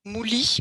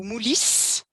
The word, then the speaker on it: Moulis: là beaucoup moins connu mouly au moulis il a les deux prononciation c'est un vin rouge